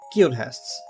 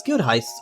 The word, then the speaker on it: Guildhest: Guildhests. That I thought so little about that I pronounced as guildheists originally.